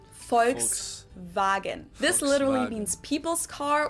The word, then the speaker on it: Volkswagen: by the full name it would be pronounced Volkswagen and not Volkswagen so just imagine that it was spelled with an f and V instead folks wagen this literally means people's